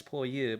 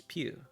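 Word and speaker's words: ぴゅ: you I'm saying it's poor you but there's no such thing as poor you in Japanese it's Pew so yeah one other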